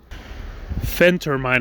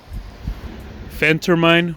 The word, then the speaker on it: phentermine: that goes by the name of friend termine phentermine i believe it's pronounced i haven't got my doctor's degree or